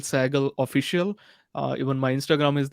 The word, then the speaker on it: Sehgal: then Sehgal, Sehgal, and then official. How do you pronounce it?